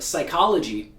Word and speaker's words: psychology: English if we have the letters P and s like in the word psychology then we don't pronounce P because these two sounds